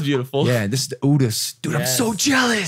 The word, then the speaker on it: Urus: Dude, the Urus. Oh my God. That's how you pronounce it?